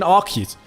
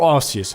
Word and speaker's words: Arceus: I mean, Jirachi, I mean Arceus or Arceus, however you like to pronounce it.